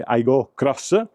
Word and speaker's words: Aygo X: Vedete, abbiamo la scritta Aygo X, che si legge Aygo Cross, torno a ripetere per il crossover, sempre il portellone posteriore tutto in vetro e andiamo a vedere anche già il bagagliaio.